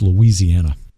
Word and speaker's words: Louisiana: heart of cinjun country we pronounce every syllable it's Louisiana yes well interesting data